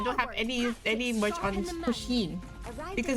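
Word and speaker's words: Pusheen: Pushin.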